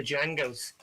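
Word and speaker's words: Django: With a D or the D is silent, but it's there obviously.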